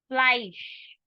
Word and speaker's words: Fleisch: Fleisch. Sure sound at the end, it means meat. Cola is simple.